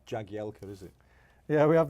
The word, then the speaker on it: Jagielka: Obviously, it's pronounced Jagielka when I have to do something into camera, and they ask me my name. I'm not going to say it wrong, but as football, it's my stage name, if you like. Commentators, Jagielka is absolutely fine.